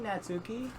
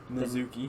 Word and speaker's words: Natsuki: I think the T is silent. I'm just saying. Natsuki. Yeah, the Natsuki. Natsuki. It's no. Fucking, that's not how you say it. Natsuki because the T is silent. Yeah. So the S becomes a Z.